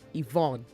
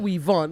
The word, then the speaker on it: Yvonne: least I try so you pronounce my name as Evon okay no weon it's not attachment please ion is spelled y v o dou n e Ivon Ivon not weon okay thank you so